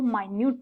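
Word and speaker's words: minute: ये मिनट नहीं है, इसको माइन्यूट प्रोनाउंस करते हैं।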